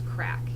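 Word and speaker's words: craic: A word that is typically said in Ireland is crack, and it is spelled C-R-A-I-C, and it means fun.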